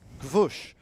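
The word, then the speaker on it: Gwozdz: I I did ask, you it's Gwosch is how you say g w o z d z.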